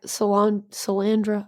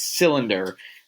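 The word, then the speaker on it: Solyndra: out that companies like Sal candra I don't I keep pronouncing it wrong CRA it's it's cylinder uh solar panels ah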